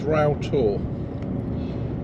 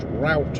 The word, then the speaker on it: Roughtor: Now, this is Ral. It's actually spelled Rough Tour, but in the local dialect is pronounced Ral.